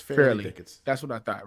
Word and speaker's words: Fairleigh Dickinson: it has to be Fair Dickerson or Farley Dickerson. How do I say it? How do I say it, Just Brian? say FDU, bro. No. FDU. Tell me the right way to say it. It's Fairleigh Dickinson.